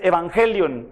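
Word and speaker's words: εὐαγγέλιον: En griego la palabra es evangelion, así se pronuncia, y la transliteraron en español como evangelio, pero significa buenas noticias.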